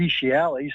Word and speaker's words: fetialis: And you might note that the fetialis sounds a lot like feces because it really is